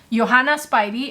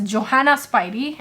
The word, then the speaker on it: Johanna Spyri: And even very recently, one of my subscribers pointed out that in a video I pronounced the name of the author of Heidi, Johanna Spyri, as Johanna Spyri, and I'm sorry about that, and thank you Kathy for pointing that out to me.